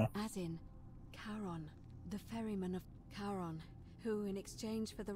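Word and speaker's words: Charon: was c h as in the ferryman of caron who in exchange for the right coin helps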